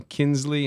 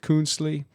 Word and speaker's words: Kuenzli: the I makes it very Swiss okay the pronunciation Kinsley instead of coonsley is because Switzerland is a tri-border country France